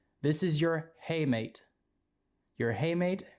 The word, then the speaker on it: hamate: waving at you all right this is your hey mate you're a haymate it's actually pronounced handmates but it's easy to remember if you can change the pronunciation so haymade or hamate is the one that's waving at you right